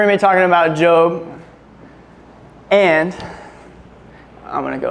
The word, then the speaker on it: Job: say it wrong and it is Jo I know when I was reading it and thinking about it I said job in my head a gazillion times and it's tough because